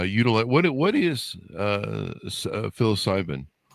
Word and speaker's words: psilocybin: So, uh you guys do expert expertly guided luxury psilocybin. Is that how you pronounce that?